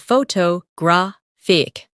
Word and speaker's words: photographic: Some words are pronounced with extra emphasis on one part. For example, photograph, photographer, and photographic. The stress moves and that changes the sound.